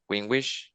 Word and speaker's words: gwiingwiish: And that's how we discovered that Wingwish was the Canada Jay. Did I pronounce that correctly?